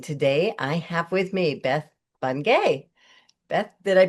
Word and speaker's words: Beth Bungay: And today I have with me Beth Bunge. Beth, did I pronounce that right?